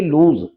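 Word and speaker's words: lose: example आपके सामने एल ओ एस E friends इसको अक्सर लोग बोले जाते हैं लॉस नहीं इसका उच्चारण भी है लूज और इसमें इसका जो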